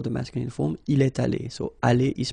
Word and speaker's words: allés: Okay. Nous sommes allés. You don't pronounce it. Okay, but you write it.